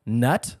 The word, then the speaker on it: Knut: In 1987, they retired the name Knut, which I'm sure is pronounced nut, but it's K-N-U-T.